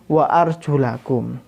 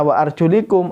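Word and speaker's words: وَأَرْجُلَكُمْ: fauzil wujuuhakum Wa iyyakum Wa arjulakum kalau nanti kita tidak membaca wa arjulakum kita baca wa arjulikum artinya kaki ini tidak dibasuh tapi kaki ini di usap jadi jangan salah bacanya harus wa arjulakum artinya basuhlah kaki-kaki kamu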